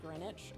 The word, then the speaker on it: Greenwich: Oh, pronounced Greenwich.